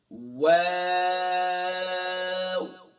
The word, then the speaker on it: واو: آخر میں واو نہیں کرنا، بلکہ جب آپ شروع میں ہونٹوں کو گول کریں گے، آخر میں ہونٹوں کو گول کر لیں گے تو اس کا ساؤنڈ جو ہے خود بخود راؤنڈ شیپ میں آ جائے گا.